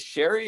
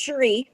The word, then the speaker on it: Sheree: just didn't want to your name is sherry is that correct it's sheree mm-hmm sheree okay i